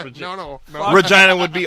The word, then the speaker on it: Regina: case everyone forgot yeah vagina and Regina sound very similar says Regina they don't say Regina that's how it's supposed to be pronounced Regina Regina would be r